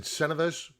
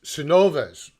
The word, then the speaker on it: Cenovus: of cve which is i was corrected in my pronunciation of the name i i think i said cenovis i i'll still call it that i gotta go back to the correction hold back how'd this guy pronounce it cenovas sanovas if todd if you're out